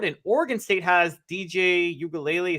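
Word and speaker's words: Uiagalelei: Washington State has a Heisman candidate at quarterback in Cam Ward, and Oregon State has DJ Ugalele. Is that how you pronounce his last name? Yep, nailed it. Perfect.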